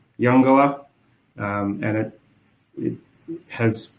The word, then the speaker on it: Uungula: project is at um the name is pronounced younga um and it it